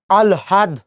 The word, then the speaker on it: আহ্লাদ: দেখেন, হয় ল যদি থাকে শব্দের হয় ল যদি থাকে, এই হ এবং ল যদি থাকে, তখন আমরা উচ্চারণের সময় প্রথমে ল উচ্চারণ করব, তারপরে কি উচ্চারণ করছি? হ। তাহলে দেখেন আ আছে, রাখলেন। এই হয় ল আছে, যেহেতু আছে, তাহলে আমরা কি করব? প্রথমে ল দিচ্ছি, তারপর কি দিচ্ছি? হ দিচ্ছি। আল হাদ, আল হাদ।